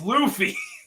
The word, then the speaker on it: Luffy: she pronounced that particularly it's Luffy a Luffy I'm sorry they called him Lefty there it's Luffy my apology well she was